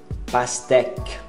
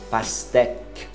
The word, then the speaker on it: pastèque: Pastèque. É um Q mudo. Esquece o U e o E final. Pastèque.